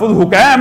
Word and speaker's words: حکیم: بغیر حکیم بن جبلہ، اس کو بعض لوگوں نے حکیم بھی کہا لیکن اصل اس کا تلفظ حکیم ہے، حکیم بن جبلہ۔ دیکھیے